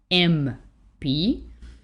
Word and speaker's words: MP: m p just because we are pronouncing each letter with an e as the first sound that we hear m p that actually requires from